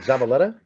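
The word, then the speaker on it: Zavaleta: getting your name wrong is it zabaletta yeah that's right oh my God I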